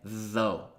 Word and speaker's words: though: La prossima parola è though. Though, che comunque si pronuncia come se fosse così.